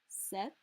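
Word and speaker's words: sept: pronounced the same cease set set notice we're more or less skipping that p entirely wheat wheat there's no h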